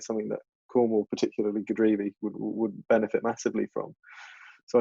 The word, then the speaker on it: Godrevy: I was going to ask you how you pronounce that Godrevy? Is that the beach? Godrevy. Godrevy. Godrevy.